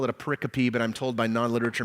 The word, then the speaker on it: pericope: googling the word pericope it's spelled exactly the way it sounds it means a group